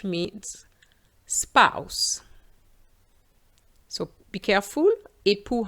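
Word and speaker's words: époux: spouse so be careful ippu has an x at the end but it's silent whereas with ipos we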